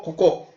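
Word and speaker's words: 午後: 그래서 고전 그래서 이것은 발음이 고젠이 고젠. 오전 오후 할 때 고젠 또 고고 이렇게 되는 거예요. 오전 오후. 오전과 오후. 이걸 일본 발음을 하면은 고젠 또 고고 이렇게 한다.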